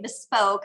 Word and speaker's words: bespoke: tomato total motto yes some people say bespoke i say best spoke but like you said